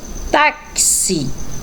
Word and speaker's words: táxi: tem umas duas aonde a primeira é táxi Olha aí o som do KS né palavrinha táxi escrita com x mas que o som é KS Ok e a próxima